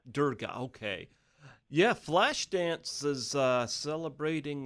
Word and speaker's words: Durga: I don't want to get her name wrong. Is it Durga? Durga, okay.